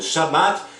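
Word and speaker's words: שבת: Agora, analisando o Shabat judeu da Torá, no judaísmo o sábado, em hebraico pronunciado como Shabat, significa descanso, cessão ou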